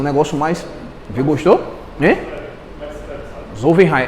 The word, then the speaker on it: Zollverein: Na verdade, o Felipe está aqui, é um cara das línguas, eu vou tentar pronunciar do jeito correto, assim, Zollverein, entendeu? É assim um negócio mais... Viu, gostou? Né? Zollverein, é Z-O-L-L-V-E-N-R-E-I-N.